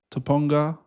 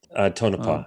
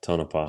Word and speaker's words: Tonopah: And even the very remote small towns like I I won't pronounce it right, but Topanga. Tonopah, yeah. Tonopah. Yeah, this one.